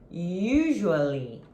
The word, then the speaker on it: usually: Another palavra, another word, outra palavra that you are going to say, que você vai falar, é usually, usually, usually. O stress, the stress is in the first syllable.